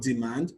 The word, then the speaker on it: demand: For madam, the stress is on the first syllable. For demand, the stress is on the second syllable.